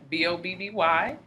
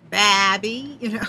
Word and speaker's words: Bahby: So it's pronounced just like Bobby.